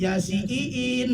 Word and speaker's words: Yasiin: saya mah masih di ya sinin yasin. Terus belum bisa baca Arab, baca Indonesianya. Di situ kan I-nya dua, bukan Yasin. Jadi Yasiin dibacanya begitu.